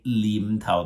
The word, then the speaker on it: Nim Tao: For example, Xiu Nim Tao, we spell with an N, but many Cantonese pronunciation, they will just say Lim Tao, like they have a